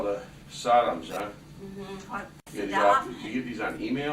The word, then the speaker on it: Saddam: He didn't say Saddam. It's Sodom because that's a curse word. Oh, it is. Yeah, so he mistakenly always mispronounced his word.